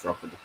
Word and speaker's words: Drogheda: Yeah, it's Drogheda. Even though I have problems pronouncing it, but it is Drogheda. It was Feyenoord in the next round, if I remember rightly.